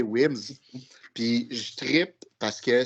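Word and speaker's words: Wemyss: Donc, pour utiliser la prononciation française, Wemys, mais c'est prononcé Wims.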